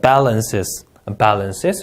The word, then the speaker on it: balances: accumulation, and then balances, 우리 B 발음 좀 부드럽게 내요. 우리나라 비읍 발음보다 더 부드럽습니다.